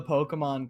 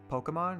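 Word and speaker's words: Pokémon: So it's just like Pokemon, right? That's it. Technically, the like E with like the accent is like an A sound, like in Pokemon.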